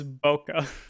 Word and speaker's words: bokeh: Yeah, it's bokeh. Basically, the bokeh is the word for the background blur. Like in that cat image I sent, you can see all the back background blur. That's the bokeh.